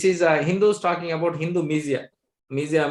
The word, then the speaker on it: Misia: Misia means spelled as M-I-S-I-A, Misia, like, but is already pronounced as Misia.